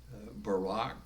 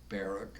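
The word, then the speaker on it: Barak: protected him and behind whose skirts he hid barack or barack as some may pronounce his name had a power behind the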